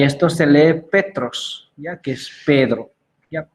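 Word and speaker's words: Πέτρος: Por ejemplo, esto se lee cristón, y esto se lee cristón, ya, y esto se lee Petros, ya, que es Pedro, ya, Petros. Ya, aquí puedo pronunciar Kai, onomate, ya, eso sí pueden pronunciarlo porque yo lo estudié el griego.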